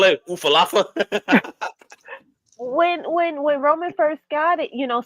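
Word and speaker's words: Ula Fala: that, when he first got you have to pronounce it for me, the alpha. There you Ulafala. go. What does LA call it? Ufalafa?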